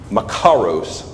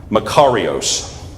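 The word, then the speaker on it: μακάριος: The Greek word is makaros. No, I'm not saying it right. Makarios.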